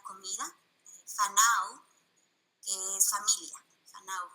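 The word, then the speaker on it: whānau: Fanau, porque la W y la H la pronuncia como F.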